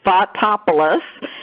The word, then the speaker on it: Fotopoulos: crazy Greek last name the way you pronounce it is just like it's spelled Fotopoulos I'm associate professor of